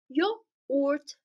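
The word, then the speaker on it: yoğurt: you know what let's let's just drop this weird letter that we have never seen before so the word will be yort okay this is yogurt in Turkish now let's learn how to pronounce it we Dro that weird letter that we don't know how to say and then we have this word y yort yort yort means yogurt so we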